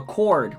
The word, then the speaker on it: chord: The chord. Chord has a silent H.